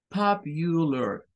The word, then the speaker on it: popular: Es un sonido más corto porque es el schwa y más suave. Popular, popular, popular, popular.